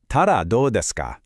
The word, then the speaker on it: たらどうですか: Ta-da, do desu ka? Pronounced ta-da, do desu ka?